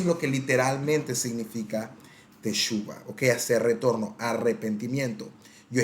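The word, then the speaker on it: תשובה: Y la palabra teshuva, otros lo pronuncian teshuvah, lo que significa es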